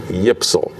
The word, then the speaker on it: YPSL: league the s ypsl if you try to pronounce those initials y p s l you get yipsal and so he became